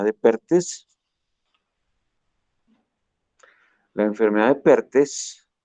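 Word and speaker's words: Perthes: La enfermedad de Pertes se escribe T-H-E-S, Pertes.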